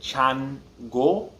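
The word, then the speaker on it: Changó: decent amount um um when you say it quickly instead of it sounding like chan go it sounds more like chang um there's it's not like which way is correct if you're saying things slowly chango if you're saying it quickly you also identify it's coming from the back of the changu but chango that's how you say chango um if you're saying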